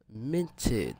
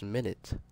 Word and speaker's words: Minit: Also, welcome back to Minted. You see, I've been pronouncing it. I'm pretty sure it's Minit. I don't know. I was pronouncing it wrong at first.